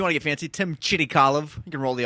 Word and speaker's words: Chirikalov: Mike Tyree, and across from me is Tim Chirikalov. What's up? Well, I stuttered in my head when I said it, but it came out right, didn't it? Yeah, if you want to get fancy, Tim Chirikalov.